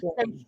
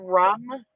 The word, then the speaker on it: Shrum: It's Rum. pronounced Shrum. rum. No, Shrum. RUM. Shrum.